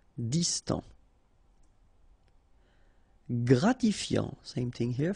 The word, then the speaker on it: Distant: Final T not pronounced. Distant.